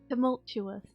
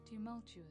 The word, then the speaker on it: tumultuous: how's it spelled mike it does have an extra year she was tumultuous okay you're right yes i am yes it has a chess sound in it tumultuous tumultuous oh whatever indeed